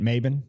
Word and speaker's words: Mabin: Mabin, that's how you say it.